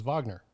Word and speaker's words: Wagner: Same thing with, when people speak German, they think, well, that guy's last name is Wagner. No, his last name is Wagner.